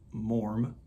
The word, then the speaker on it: Maugham: I think you pronounce his last name Maugham, like warm.